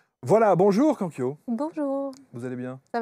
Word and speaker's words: Kankyo: Alors certains disent Kankyo, Kankyo. Oui, comme Comment est-ce vous qu'on voulez. prononce? Normalement, c'est Kankyo. Ah, Kankyo. Kankyo, voilà. C'est Mais ça. Kankyo, ça va aussi, hein.